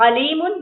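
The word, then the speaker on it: عليما: हूं कल्बन और कल्बन अलीमन अलीमन अलीमन दर्दनाक अलीमन बहुत इल्म वाला अब अगर आपका न नहीं निकल रहा तो आपने अल्लाह को दर्दनाक बना दिया अलीमन पढ़ के आपने अल्लाह को दर्दनाक बना दिया और अगर आप करेक्ट आईन निकालेंगे तो आप यह पढ़ेंगे कि अल्लाह बहुत इल्म वाला है ठीक है तो सही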